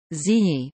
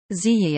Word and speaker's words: Zhiyi: Zhiyi, Chinese, Zhiyi Pinyin, Zhiyi, Wade Giles, Chi I, Japanese pronunciation, Chiga, Korean, Jui Vietnamese, Tri Gi, 538-597